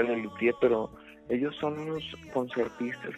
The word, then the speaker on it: Les Luthiers: se llama Les Luthiers, que se pronuncia Les Luthiers, pero ellos son unos concertistas que enfocan el 100% de su talento al humor.